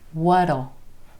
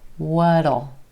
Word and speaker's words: what'll: comes what Oh what'll notice how that T at the end of what becomes a flap T what'll what'll what will she think